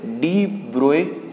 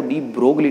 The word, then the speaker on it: de Broglie: ठीक है ना, ये एक्चुअल में जो वर्ड है वो डी ब्रोगली नहीं, हम जनरली इसका जो प्रोनाउंसिएशन करते हैं वो डी ब्रोगली करते हैं, जबकि ये वर्ड क्या है, डी ब्रोए, because French word है।